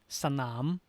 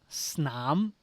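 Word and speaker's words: สนาม: Sanam, not snam. If we used gliding cluster, it would be snam. But actually, it is an implicit vowel at that sanam. So here you can hear two syllables. The first one, sa. The second one, nam. Sanam.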